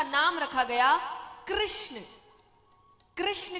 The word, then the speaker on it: कृष्ण: नाम रखा गया कृष्ण कृष्ण कहने में जीभ घूमती है बोलो घूमी जिसकी नहीं घूमी गलत बोल रहा है सही उच्चारण करोगे तो घूमेगी तो भगवान का नाम